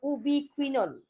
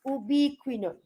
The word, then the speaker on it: ubiquinone: mobile electron carrier, what we call as a ubiquinone.